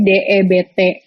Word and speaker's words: debt: Misalnya kalian tuh bingung ya kayak kata cara baca utang kan bahasa Inggrisnya debt, itu tulisannya DEBT, DEBT, tapi cara bacanya itu debt, itu B-nya nggak dibaca.